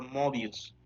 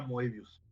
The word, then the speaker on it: Moebius: un señor llamado moebius y a mí me sonaba a morbius el vampiro de Spiderman y eso sí lo puedes pronunciar bien por favor movius sí pero en ese momento era mevius ent yo dije wow